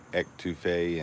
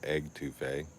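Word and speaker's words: étouffée: really had some good etouffee, and I know I didn't say it right, but everybody knows what it is. I used to call it egg touffee. It's not egg, but that is really good.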